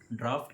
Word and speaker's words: draught: यू जी एच टी आपको लग रहा होगा कि ये ड्रॉट होगा पर यह ड्रॉट नहीं है इसकी प्रोनंसिएशन है ड्राफ्ट इसकी दो स्पेलिंग्स होती